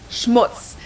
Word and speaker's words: Schmutz: on my list is Schmutz this one is pronounced and used the same way in both languages and it means dirt